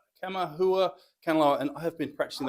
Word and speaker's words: Kamaʻehuakanaloa: I have to get the pronunciation right. Kamaʻehuakanaloa, and I have been practicing that all week to myself, so I'm sorry.